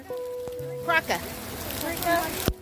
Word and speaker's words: Krka: Is it pronounced Karasha? Karaka National Park. What is the pronunciation? Kraka.